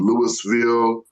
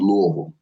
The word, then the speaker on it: Louisville: become some people pronounce it Lewisville or Louisville, but we pronounce it Louisville.